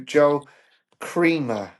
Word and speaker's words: Joel Kremer: So it it was number 202, Joel Kremer.